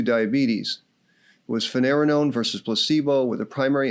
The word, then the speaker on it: finerenone: The drug's name is finerenone. Note that it rhymes with spironolactone and eplerenone.